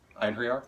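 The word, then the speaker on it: Einherjar: Einhriar? Yeah. That's how I say it. I literally spell it Ein, E-I-N, and then her, H-E-R, and then Yar, J-A-R.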